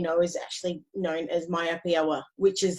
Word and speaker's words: myopia: So this condition, as we know, is actually known as myopia, which is, did I pronounce that right? How do you pronounce it? Yes, you did a great job. Yep, myopia is good.